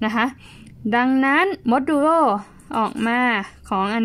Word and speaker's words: modulo: ว่า ณ ที่ นี้ เรา อ่าน ว่า มด ดูโร่ นะ คะ ขอบคุณ มาก